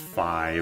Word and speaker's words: Fi: I know it's pronounced Fi, but I pronounce F-I, like the character Fee. I know in Zelda it's supposed to be Fi, like Wi-Fi, but I call her Fee, and I call P-H-I Fee too.